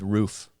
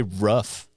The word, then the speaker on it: roof: they're mispronouncing it, is roof. Is it roof or roof? Roof. Why do people say rough? Yeah, it's not Is rough.